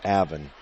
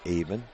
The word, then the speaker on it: Aven: slinger Aven by swinger I was pronouncing it incorrectly so it's Aven not even it's got to be